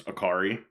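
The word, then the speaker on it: Acciari: Akiari. Acai, like the bowl.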